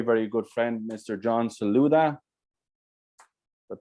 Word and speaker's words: Saldua: John Saldua. Did I pronounce that right? Saldua.